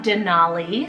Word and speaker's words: Denali: I have Denali, spelled D-E-N-A-L-I.